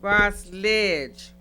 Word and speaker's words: Ras Lidg: So with that being said, Ross Lidg. Am I saying it right? Yeah, you saying it right. You got it. Okay. Like college.